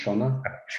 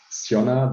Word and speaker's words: Sionna: the beginning it was siona but then we had some irish people in the company who immediately said oh that's runner okay it relates to the river shannon in ireland so that's